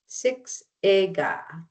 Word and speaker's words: Siksika: Siksika is Siksika. Kainai is pronounced Gainaa.